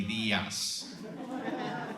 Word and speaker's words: Diaz: So what we're gonna do is we're going to, well, it's the morning, and I love to say Buenos Dias because it rhymes with Lucky Diaz.